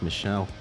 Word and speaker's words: Michel: joining the likes of Michael Ansel, I think it's pronounced Michelle, Shigeru Miyamoto, and is there any award left out there they haven't won?